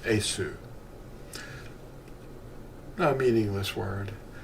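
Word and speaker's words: Iesu: The V is actually the Latin U. That's what it is. It's pronounced Esu.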